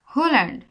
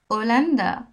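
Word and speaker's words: Holanda: এটা যদি বলি হোল্যান্ড কিন্তু আসলে তো তা না স্প্যানিশে বলে ওলান্দা ওলান্দা এখন ওলান্দা বলছি কিন্তু আমি আমি কিন্তু এইচ এর উচ্চারণ করছি না আমি ইংলিশে করতেছি যে হোলান্ডা কিন্তু আসলে হোলান্ডা না স্প্যানিশে ওলান্দা বুঝতে পারছেন এইচ এর নাম আছে কিন্তু এইচ এর উচ্চারণটা সাইলেন্ট থাকে তার উচ্চারণ হয় না তাকে নিঃশব্দ করে দিয়ে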